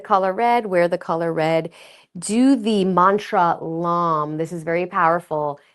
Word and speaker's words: lam: red, do the mantra lam. This is very powerful. It's pronounced It's spelled l a m, but it's pronounced l a u m.